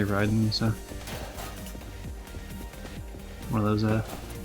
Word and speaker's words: Raiden: with Mortal Kombat and apparently that's the only place you would ever pronounce it Raiden is from Mortal Kombat. Apparently, it's always pronounced Ryden for everything else. Um, probably most famously Middle Gear Solid, but I've heard it from other things too where they say Ryden.